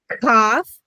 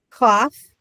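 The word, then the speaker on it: Qof: Again, so KOF, Shin, Cough, and Sadi. And again, Saudi's on their knees, right? So, we did the finals. Cough, Sadi, and Fay. Okay. The cough looks like a K.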